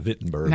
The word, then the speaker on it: Wittenberg: Y and um or if we say it right, Vittenberg. The W is a V.